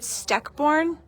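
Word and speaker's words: Steckborn: Am I saying it right? Steckorn. Yes.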